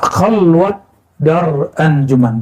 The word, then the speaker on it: khalwat dar anjuman: Nah, khalwat daran anjuman bukan khalwah ya. Orang Persia tidak bisa baca ah itu dalam pelafalannya walaupun di hari-hari bisa khalwat dar aljuman.